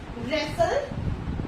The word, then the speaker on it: wrestle: ठीक है, W जो क्या करेगा, साइलेंट रहेगा. सो लेट us learn with example. wrangle, wrap, wrench, wrestle, wrinkle and wrap.